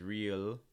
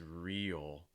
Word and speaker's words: real: shy person real real notice it breaks into two parts e o again with that dark l-type sound at the end what you don't want it to sound like is real it's real again lowering the front of your tongue more enclosing your mouth oh real compare that